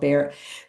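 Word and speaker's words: Bexar: It's called Bear It's called Bear County, but it's spelled b e x a r.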